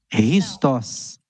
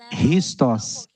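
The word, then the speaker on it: Χριστός: Chá, Xé, Chu, não, ela é pronunciada com R de rato, de roupa. Então, por isso que nós falamos como Christos. Christos.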